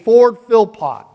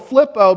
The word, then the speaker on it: Philpott: of Lexington, Kentucky named Ford Philpott. Now I messed up the pronunciation of that. I called it Flippo because there are some people that they spell that and they say Flippo.